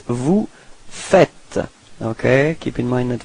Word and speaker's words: fait: So il fait. Same pronunciation, so final T is not pronounced.